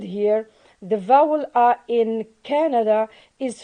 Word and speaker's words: Canada: canada uh we have the word canada in which stress is on the first syllable and this first syllable